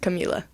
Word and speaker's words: Kamila: And just so you know too, my name is pronounced Camila.